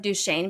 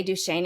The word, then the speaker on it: Duchesne: do we also know that we're descendants of Duchesne because we know how to say Duchesne instead of Duchesne which is how other people